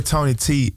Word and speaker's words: Toeknee Tee: So it's your boy Tony T. If you're reading it on the letter, it's told it's how they say it, anatomical. It's told in the knee together.